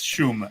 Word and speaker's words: Szum: So the right way is not the way I say it anymore because nobody gets it right. But it's Shum. The SZ turns into SCHU.